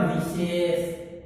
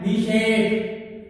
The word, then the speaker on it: विशेष: अगर हम सही उच्चारण करें तो वह आएगा विशेष, लेकिन बोलते कैसे हैं, विशेष, यानी कि बड़े शै की जगह जो पेट पटा शै होता है उसकी ध्वनि